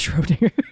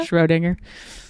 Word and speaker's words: Schrödinger: It's Schrödinger. Yes. Juliet Mariah Schrödinger. sounds like it's like Schwarzenegger's like cousin. Yeah. Schrödinger.